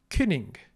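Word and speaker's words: cyning: When C has no dot, it's pronounced like a modern English K. Künning. K. Künning. However, when a C has a dot, it's pronounced like modern English CH.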